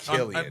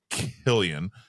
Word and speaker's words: Cillian: It would be Killian. And, No, that's like and that's how my brain would process that a CI in my mind is S, Yeah. but it's pronounced K.